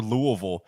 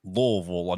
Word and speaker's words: Louisville: record commercials for Louisville they tell me to say it like Louisville like not Louisville not like the super redneck way but they want me to say Louisville so it's like kind of halfway in between it's the same thing